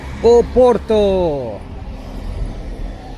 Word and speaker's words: Porto: and snacks proper food welcome to Porto or as the locals say it o Porto or specifically B nobody